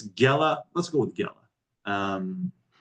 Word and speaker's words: Gela: g e l a I think it's just a g sound yeah Jella gella gella all right so it's gella let's go with gella